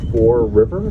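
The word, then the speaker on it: Fore River: just backed out into the Four River it's spelled f-o-r-e for river separates the city of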